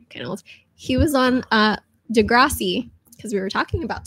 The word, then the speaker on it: Degrassi: do you say it how do you say it in Ohio Degrassi yeah say that again I'm gonna put the dog over one more time degrees yeah see how the Canadians say it look at my life